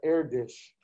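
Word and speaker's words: Erdős: the famous mathematician paul erdis paul heir dish check out this last name you pronounce that air dish paul erdish was uh he's one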